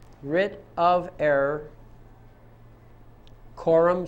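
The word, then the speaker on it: coram: RIT of error Corum nois RIT of error Quorum spelled c o r a m and the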